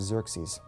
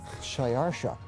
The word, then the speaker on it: Xerxes: these kings in the 400s, his name was Xerxes. His Persian name in Old Persian, which is his original native language, is Shayarsha. Now that was hard for the Jews to pronounce, so they said Ahasuerus.